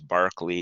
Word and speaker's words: Berkeley: was locke there was barkley it looks like berkeley but he's british and so that's how you pronounce it bishop barkley he was a christian